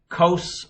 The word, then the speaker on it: cos: school teacher taught us kos rhymes with nose and so he always